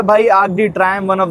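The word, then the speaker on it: Arc de Triomphe: तो ये है भाई आर्क डी ट्रायम्फ, ट्रायम्फ बोल लो, ट्रायम्पो बोल लो, ट्रायम्पे बोल लो, जो इसकी प्रोनाउंसिएशन है वो वैसे आर्क डी ट्रायम्फ है, ट्रायम्पो प करके, ठीक है।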